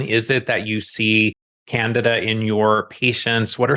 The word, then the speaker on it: Candida: yeast and Canada and I'm gonna say Canada because my understanding from many of my mentors is that is how it's said but I know many people say candida so tomato whatever whatever